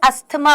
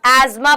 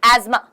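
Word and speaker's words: asthma: देखना एक तो ना बहुत सारे बच्चे इसको अस्थमा अस्थमा बुलाते हैं इसको इंग्लिश में जब भी आप प्रोनाउंस करोगे तो हान खानदानी बीमारी है ना इसको इंग्लिश में जब भी आप प्रोनाउंस करूंगी तो आप आज़मा प्रोनाउंस करोगे क्या प्रोनाउंस करोगे समा टी ह इसमें साइलेंट है अस्मा ठीक है सबसे पहले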